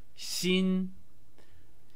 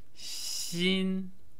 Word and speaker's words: 新: the basic chinese word xin xin pronounced in the first tone which means new here are some examples of how to use seen in everyday speech so